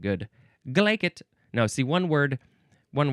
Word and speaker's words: glaikit: me one would be glacet which is foolish and giddy and you have to say it with a Scottish accent.